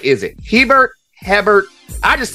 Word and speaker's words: Hebert: So they say "Bear," but it is pronounced Hebert.